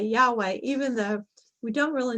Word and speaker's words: Yahweh: It's not as though when we say Yahweh, that we're actually really speaking Hebrew, but it's one of the ways that we think comes the closest to the way that may have been pronounced.